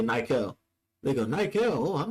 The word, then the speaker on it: Nykel: I say Nykel.